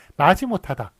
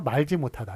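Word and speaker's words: 마지못하다: 그래서 그러니까 지읒 앞에서는 원래 떨어지지 않아요. 그렇지만 이런 거는 이제 고래의 관용 형식, 옛날부터 그렇게 떨어지는 식으로 그렇게 발음을 해왔습니다. 그래서 얘네들은 예외적이지만 그 리을 떨어지는 거를 그냥 인정하기로 했습니다. 그래서 그 리을이 오히려 붙으면 이상한 거예요. 말지 못하다. 이건 틀립니다.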